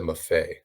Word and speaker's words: Mafe: But yeah, so I think it's more just like they're gonna want Mafi to be doing it, or Mafe, I think is how you pronounce it. Or Mafe. Pete said Mafe.